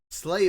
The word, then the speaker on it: sleigh: Sleigh bells. Sleigh spelled like S-L-A-Y.